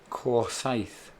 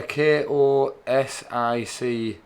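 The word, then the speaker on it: Košice: Corsaith. Is that? Spelled with the K. I haven't got. No. Yeah, Kosice. That's it.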